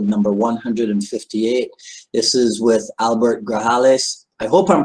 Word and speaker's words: Grajales: This is with Albert Grajales. I hope I'm pronouncing that correctly. As you guys are logging in. Oh, perfect. Yeah. Yeah, it's excellent. The J's pronounced like an H, so excellent.